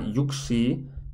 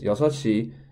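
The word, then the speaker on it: 여섯 시: I pronounce this is it's not yuksi and ship ishi. That unfortunately Koreans have two completely different way to say numbers, but instead what you have to say is yosashi to 12시.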